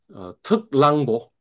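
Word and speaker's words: 特朗普: 예, 그러니까 특랑보. 어, 중국에서는 트럼프를 특랑보라고 이렇게 하면 그게 트럼프로 중국어로 그렇게 되는가 봐. 중국어 발음으로 그렇게 되는가 봐요.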